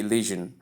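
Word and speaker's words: elision: sound shouldn't be here please note that it should be illion so the sure sound is not included it's a typographical error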